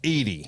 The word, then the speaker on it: Eady: Like the ice cream with an A, without the A. Without the A. Well, yeah, the Edie's With A. ice cream has Edie's, no A.